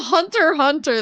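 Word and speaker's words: Hunter × Hunter: There was a game that has an X in the middle of it, and it's not it's not pronounced, and people always made fun of me for pronouncing it.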